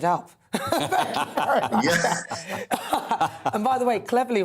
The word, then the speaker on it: Cleverly: and by the way cleverly rhymes with beverly see you later dan